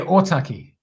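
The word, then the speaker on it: Ōtaki: MP so otaki is that how do you pronounce it yeah otaki that's how God that's awesome man well congratulations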